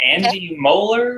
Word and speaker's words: Andy Moeller: So Andy Moeller, is that how you pronounce his name?